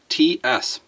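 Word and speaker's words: Ц: So this is pronounced T-S. It's kind of hard to pronounce.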